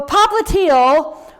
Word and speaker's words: popliteal: popliteal on the back so popliteal rhymes with heel rhymes with calcaneal this is the calcaneal